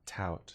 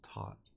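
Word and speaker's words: taut: Rope has gone rigid yes but it's not tout tout no it's taught why is the you there it's in it's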